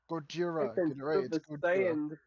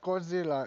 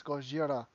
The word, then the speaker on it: Gojira: Gojira. Godzilla. Looking into the world. Not Godzilla. It's Gojira.